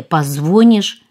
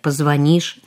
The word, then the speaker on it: позвонишь: Может, ничего страшного нет в том, если мы произносим «ты мне позвонишь» вместо правильного произношения «позвонишь», «улица автозаводская» вместо правильного произношения «автозаводская», ну и так далее.